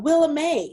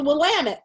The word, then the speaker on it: Willamette: this wine this uh willa may this willamette wine from oregon and they were just like really bless your heart what did you say and i go willa may you know and it's willamette but i had an